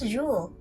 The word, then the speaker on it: Jules: by jewel vern and i learned it was jewel because the s is silent you learn more every